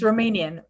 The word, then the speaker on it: Romanian: It's Romanian.